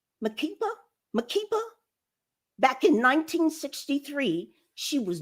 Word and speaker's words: Makeba: Barack Obama, Maya Angelou, and Miriam, I think it's pronounced Makeba.